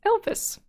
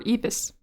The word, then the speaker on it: Evis: she introduces herself as Elvis or Evis there's no l but my brain just wanted to pronounce the L 10% which knowledge learned